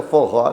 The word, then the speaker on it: forró: Que o forró teria sido uma conversão do for all para todos, né? Pela pronúncia forró, né? Puxando o nordestino. Nada como ter gente que tem conhecimento. É verdade, existe essa pesquisa, parece que confirmada, que quando faziam as festas que incluíam o pessoal mais humilde, hoje diriam os excluídos, aí era for all, para todos. Em pronúncia nordestinês, forró.